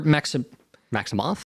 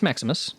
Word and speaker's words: Maximus: Or Maximoff? Yeah, it's Maximus.